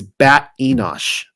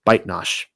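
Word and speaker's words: Batenosh: A far more reliable pronunciation is Bat Enosh, but the version I am delivering only calls her Baitnash.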